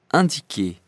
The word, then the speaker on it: Indiquer: So now I know that the I starting a word is not pronounced like in English or in Spanish. It's pronounced differently. Like if it was an A, it says andiker, andiker.